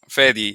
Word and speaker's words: Fady: fatty fat fatty fatty yeah both pronounce iations work honestly it's just whatever is easier for you guys but yeah fedy usually it's a middle eastern name so yeah the the the pronunciation I'm used to is fedy where where are you